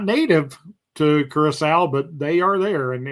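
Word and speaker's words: Curaçao: Curacao is pronounced Curacao. Oh, I knew that the little squiggly line under the C meant it sounded like an S.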